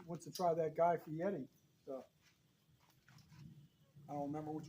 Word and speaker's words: Fieri: He wants to try that Guy Fieri stuff. I don't remember which one it is, but he won't know. I honestly thought his name was Guy Fieri, but I've heard other people pronounce it Fieri.